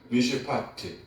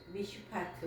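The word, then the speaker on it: מִשְׁפָּט: 여기 정의라는 말의 히브리어 발음은 미시파트입니다. 한번 해 보세요. 미시파트. 미시파트.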